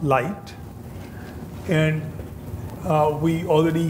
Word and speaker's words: LIGTT: Institute for globally transformative Technologies pronounced light and and uh we